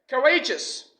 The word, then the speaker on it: courageous: job success not success the next one is courageous it is an adjective now I know that the noun form of this word is courage encourage we stress the first syllable but in the adjective form we stress the second Citadel which is Rey courageous